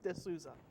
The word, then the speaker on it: D'Souza: D'Souza how do you say it D'Souza ok good one of those names that you